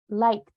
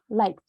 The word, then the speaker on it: liked: write it thank you you pronounce them like liked like a t it's like liked and this one is